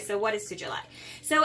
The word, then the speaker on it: sugilite: All right, so this is the, I believe is pronounced as the sugilite. I believe it's sugilite, okay?